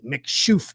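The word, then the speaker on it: Mc Chouffe: is about as close as i got this mick shoof it's real weird to pronounce but it's it's mc and then it's c-h-o-u-f-f-e mcshoof is how you pronounce it but it's a darker beer it's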